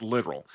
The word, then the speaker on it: littoral: Though the pronunciation is pretty much the same. The term here looks like it should be pronounced littoral drift. But it's actually correctly pronounced littoral.